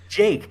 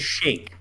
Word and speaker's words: Jake: Jake. Yeah. And it's because it upsets me that his wife never gets... She's never able to say his name right. She always says Shake.